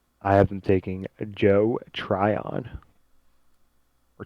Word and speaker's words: Tryon: edge rusher, but I have them taking Joe Tryon. Or Treon. How do we pronounce it? Tryon. I was just looking at highlights of him. They were calling him Yeah. Tryon.